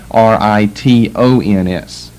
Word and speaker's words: Britons: Britons. But they're pronounced the same. Britain is the name of the country, and Britons the name of the people in the country.